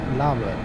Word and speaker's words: Larbert: Labert, that's how they say it.